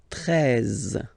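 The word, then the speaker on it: treize: Then now if you combine this E and E, you get the sound E, really open. 13.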